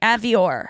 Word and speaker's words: Avior: Yeah, What's my Avior. last name? Say it, bitch. Avior. Say my name. Yeah, Say my there you go. name. Avior. You got it. Avior. Avior. Like Dior. I'm gonna say the or.